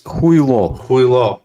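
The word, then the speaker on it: хуйло: So it's not Julio. It's not Julio. It's not Julio. It's Huilo. Huilo.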